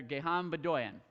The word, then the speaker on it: Gegham Bdoyan: Gegham Bdoyan.